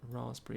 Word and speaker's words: raspberry: bit of a clue we have a raspberry which is spelled raspberry but raspberry is how we would say it this one here number